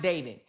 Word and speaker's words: D4vd: And it's pronounced David.